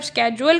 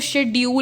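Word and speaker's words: schedule: अब स्केड्यूल का वर्ड अगर आप वैसे पढ़ें, उसको शेड्यूल लिखा जाता है, तो शेड्यूल को आजकल मॉडर्न लैंग्वेज में चेंज करके शेड्यूल से स्केड्यूल हो गया है।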